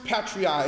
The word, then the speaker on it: patriae: Parens Patriae is spelled P-A-R-E-N-S. The second word, Patriae, is spelled P-A-T-R-I-A-E. P-A-T-R-I-A-E, and that is pronounced patriae.